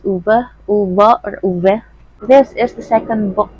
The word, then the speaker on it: Ove: reading a man called over apparently it's pronounced as uber this is the second